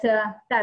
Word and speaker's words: Dai: My name is Day, but actually in Chinese it's pronounced Dai. It's D-A-I.